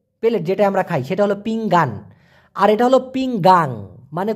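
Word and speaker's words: pinggang: মানে হলো কোমরে ব্যথা পিংগাং আমি কিন্তু পিংগান বলি নাই দেখুন একটা আছে পি আই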